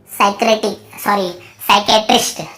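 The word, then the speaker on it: psychiatrist: साइकेट्रिस्ट, ठीक है, साइकेट्रिस्ट।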